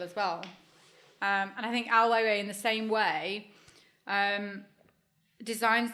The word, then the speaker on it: Ai Weiwei: Do you the question there is, do you think that, for example, Ai Weiwei, if I've said that right. You said it right. You said it beautifully. Ai Weiwei.